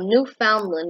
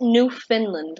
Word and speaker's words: Newfoundland: weird here for example newfoundland which is the way i like to pronounce it which is a province of canada people pronounce it new finland like new finland you know that country in scandinavia and nordic wait it's